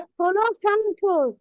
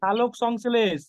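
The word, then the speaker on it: সালোকসংশ্লেষ: উদ্ভিদের খাদ্য হ্যাঁ, ষোলক সংশ্লেষ। ষোলক সংশ্লেষ। শালক তুমি সংশ্লেষ। তুমি উচ্চারণটা ঠিকভাবে করছো না, তোমার কিন্তু নাম্বার কেটে নেবে। সালোক সংশ্লেষ, সালোক সংশ্লেষ।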